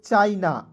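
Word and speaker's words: China: सी एच आई एन ए तो इसे पढ़ेंगे दोस्तों चाइना ठीक है चाइना पढ़ा जाएगा सी एच आई एन ए चाइना ठीक है चीना नहीं पढ़ लीजिएगा उसके बाद देखिए फिर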